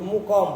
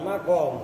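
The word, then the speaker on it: مُقَام: Muqamahu, itu muqam bukan makom, karena lihat sebelumnya ukima. Kalau makom itu, kalau sebelumnya koma, itu cara baca lafaz muqam. Tulisannya sama antara makom dengan muqam, hurufnya sama persis, harokatnya yang beda.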